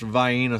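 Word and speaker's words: Vienna: for other places these they're pronounced viena sausages vienes mind your business I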